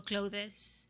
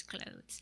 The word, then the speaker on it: clothes: it and say well yesterday i said for example clothes well it's not the right pronunciation the right pronunciation is closed i think it's one